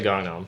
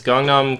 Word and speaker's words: Gangnam: like pan or Busan I say gangam like Gangnam style isn't that what he says he does say Kong Nom style so I assume that is the correct pronunciation cuz that's a Korean Guy saying it right yes I don't know so yeah I I it's gong Nom comedy open mic uh